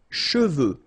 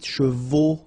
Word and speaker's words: cheveux: Usually this one is a bit of a problem because some of the students normally pronounce it chevaux, okay? So try to keep in mind that you get E-U here, so it goes like okay? And then final X not pronounced, sorry, final X, should pronounce it the French way. Final X is not pronounced, so you get che, and then you get the, okay? Cheveux, okay?